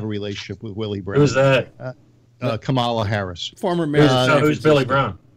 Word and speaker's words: Kamala: politics and he was Sangin it was banging Camilla Harris and you're not can basically pronounce Camelot yeah Camelot so it was a bangin Kamala Harris and what else and and that's how